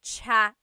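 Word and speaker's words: tsaa: good almost polyglot said it's like the word cha cha inog is tea like the tea that you drink and it's spelled TSA a cha cha that's such a talug spelling I love it there's the TS sound and then the double vowel uh pronunciation cha it's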